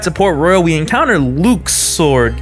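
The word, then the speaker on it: Luxord: Port Royal we encounter Luke's sword yeah that's actually how you say his name they never actually say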